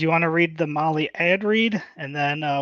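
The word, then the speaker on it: Mahle: for the podcast listeners Molly is spelled m ahle e and yes yeah just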